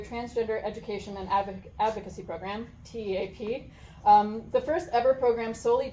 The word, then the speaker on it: TEAP: It's pronounced TEAP? TEAP, yeah.